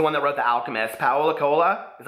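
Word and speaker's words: Paulo Coelho: apologize he's the one that wrote The Alchemist Powell Accola is how you pronounce that Colo but he wrote a book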